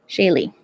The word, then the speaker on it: Shaye: links down below okay Shaye Shay that's why I always like asking because I know off the bat my the way it looks my name does does not look like how I pronounce it maybe so okay yeah